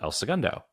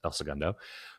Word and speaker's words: El Segundo: And if you're native to Southern California, you pronounce it El Segundo. And if you're not native to to California, I mean, if you have any Spanish background, you still say El Segundo.